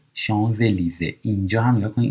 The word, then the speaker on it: Champs-Élysées: سور ل شانزلیزه، اینجا هم نگاه کنید این اس به این میچسبه، میشه شان، این اس خونده نمیشه ولی وقتی مثل برف صدادار بعدی لیزون میشه شانزلیزه.